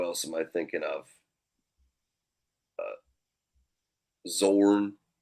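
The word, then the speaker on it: Xorn: I think that's right I don't think you pronounce the X so yeah I think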